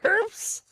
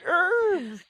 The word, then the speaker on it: herbs: Grab the herbs. It's not herbs. it. Have you heard the KFC commercial with 11 special herbs? No, it says herbs. They do not pronounce the H. It's a silent H.